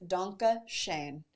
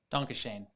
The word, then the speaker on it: Dankeschön: How would you pronounce that in the German? Dankeschön.